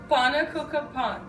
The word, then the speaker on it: pannekoeken: Frank pen p p p p p p pa cooka Pon yes we won't throw this one up okay